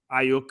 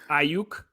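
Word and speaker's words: Aiyuk: Higgins is the guy I've heard the most, and Brandon Ayuk as well. Did I pronounce his name right? It's a little funky at the end, but Ayuk.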